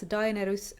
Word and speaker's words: Daenerys: I also read Daenerys and Aegon in a Finnish way, so I read them as Dah-eh-neh-rys and Ah-eh-gon.